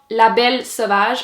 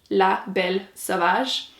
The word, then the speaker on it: La Belle Sauvage: Anyway, the volume 1 is called La Belle Sauvage. I thought I would mention it because I'm sure it's going to be butchered on BookTube, so La Belle Sauvage.